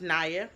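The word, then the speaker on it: Niya: y a it's pronounced Nia not Nia not ninja not nibla not nabla and I've been called all those names and I tell people the I is long so it's NAA I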